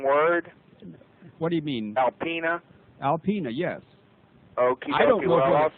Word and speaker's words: Alpena: It's Alpena, A-L-P-E-N-A.